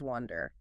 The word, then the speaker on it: wonder: Next up, a pair that sound ridiculously similar, wonder versus wonder. That vowel sound makes all the difference. It really does. A classic pronunciation trick. Let's nail the pronunciation first. Wonder. Wonder, like sun or cup.